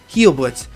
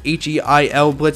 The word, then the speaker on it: Heilblitz: The code name for this is perk_health, and the name of it is Heilblitz. It's spelled like Heil, like it's H-E-I-L Blitz.